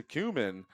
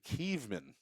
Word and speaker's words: Kievman: 0-1 pitch to Kuhlman. Called a strike, 0-2. Pardon me, Kievman. I've been pronouncing that wrong.